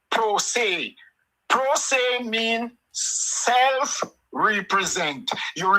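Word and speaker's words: pro se: law that you you call P R O S E. It is pronounced um prosay.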